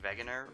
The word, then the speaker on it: Wegener: And I really hope I'm pronouncing Wegener right, because I know W's and Germans are... W's and Germans! The W in German's pronounced like a V.